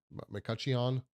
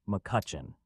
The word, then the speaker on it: McCutchen: Arcola, M uh McCutchen, McCuchion. How do you say that? Muchion. Muchion. The correct pronunciation is McCutchen.